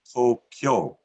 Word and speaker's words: Tokyo: The word Tokyo, that we might say it's Tokyo, sounds like 3 syllables, is actually pronounced as Tokyo, which may sound like 2, but it actually counts as 4 sounds.